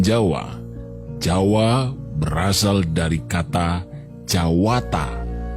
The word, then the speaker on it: Jawata: jawa berasal dari kata jawata atau jawato dalam pengucapan bahasa Jawa yang artinya Dewata maka